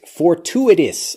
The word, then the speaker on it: fortuitous: ap fowl peafowl next fortuitous fortuitous listen carefully to how this blends for two it is for two it is